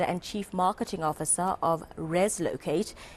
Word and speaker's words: Reslocate: Yes, it And it's called Reslocate. I hope I'm pronouncing it correctly.